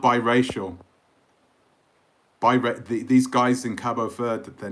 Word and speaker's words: Cabo Verde: Your thoughts on Cape Verde? Cape Verde? I keep calling it Cape Verde. That's what they say in England, but it's Cabo Verde, isn't it? That's how you say it in Portuguese.